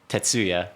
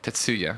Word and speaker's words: Tetsuya: it's Tetsuya. Tetsuya.